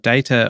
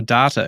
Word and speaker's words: data: it appears there is no consensus on the pronunciation of data or data because I insist that it is data and you um I say data do I yeah and